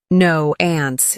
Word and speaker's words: nuance: n u a n c e pronunciation no ants it's a noun a